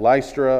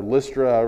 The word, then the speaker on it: Lystra: another miracle here in Acts chapter 14 at lystra or lystra we pronounce it in verse number eight there was